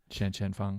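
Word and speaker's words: Shanshan Feng: you know nothing wrong all year but from Shanshan Fung at the top of tees I'm really glad that Ellie told me how to pronounce that name the opportunity that could be your 2008 sound effect Shanshan Fong every time you say at number one in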